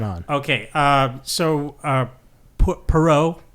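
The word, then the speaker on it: Poirot: Uh, so, uh, Pero, like that's how you pronounce it.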